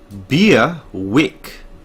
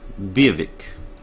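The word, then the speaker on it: Biawac: For the future reference, this word is pronounced Beerwick. V with a W accent, A, V, I, K. V, I, K. Beerwick.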